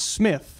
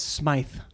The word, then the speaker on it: Smythe: So I was like, it's pronounced Smith, right? And Dana was, no, it's Smythe.